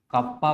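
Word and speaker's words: kappa: इसका साइन ठीक है इसको हम लोग कप्पा प्रोनाउंस करते हैं राइट मोलर कंडक्टिविटी ऐसे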